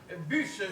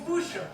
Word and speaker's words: Bûche: Bûche, Georges Bûche. Ah ouais, je connais, ça se prononce bouche. Ah non, pas du tout. Bûche, c'est d'origine française, je crois.